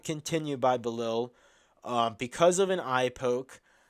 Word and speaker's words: Belal: I believe it is Belal. Belal, not 100% sure.